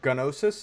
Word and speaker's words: Gnosis: Is this that grass that was used to make the drug to make uh nosis or gnosis as they pronounce it in game?